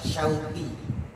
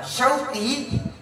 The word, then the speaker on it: Syauqi: Contoh, nama saya yang diberikan orang tua saya, Hadratul Syekh Izainuddin MZ, adalah Syauqi. Terdiri dari huruf Shin, Waw, Qaf, dan Ya.